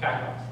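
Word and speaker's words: κακός: How do you pronounce that? Kakos.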